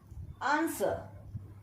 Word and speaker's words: answer: 18th word, answer. In answer also, W is silent.